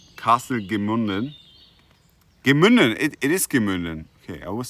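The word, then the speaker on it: Gemünden: Gemunden, it is Gemunden.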